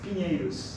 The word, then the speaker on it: Pinheiros: How is it pronounced? Pinheiros. Pinheiros. Okay, that was not that hard as I thought.